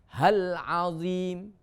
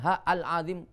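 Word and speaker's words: العظيم: Astaghfirullah hal azim. Hal azim itu juga ada a-nya, bukan ha al azim.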